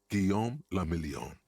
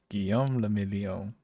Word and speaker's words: Guillaume le Million: Guillaume le Million. Guillaume le Million. If it doesn't rhyme, you're not pronouncing it right.